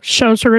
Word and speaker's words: Schoser: Close enough. Schoser. It's got a hard O on it.